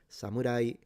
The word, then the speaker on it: samurai: Samurai is a rising pitch. Samurai, same with um yari the spear or yumi the bow.